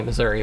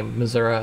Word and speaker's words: Missouri: that's that's probably why I'm from Missoura which is actually Missouri but some of us say Missoura and wash waser and